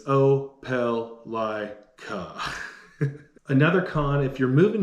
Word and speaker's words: Opelika: pronounced oblique opelica there's been a couple different pronunciations i've heard over the years but it's oh pel lai ka another con if you're moving here from a